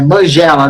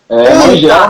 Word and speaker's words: Mangela: É Mangiela, né?